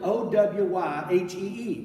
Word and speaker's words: Owyhee: But they didn't know how to say Hawaii or how to spell it, so they spelled it O-W-Y-H-E-E, Owyhee.